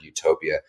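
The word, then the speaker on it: eutopia: it's pronounced utopia also, just like the word utopia, but they put an E in front of the U, and for whatever reason, somebody coined that and determined that meant like a near utopia.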